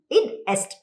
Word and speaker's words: id est: Option C. Id est. Id est. Id est. IE அப்படினா id est. Id est. Actually IE அப்படினா that is. That is. ஓ, அதனுடைய Latin expansion வந்து id est. Id est.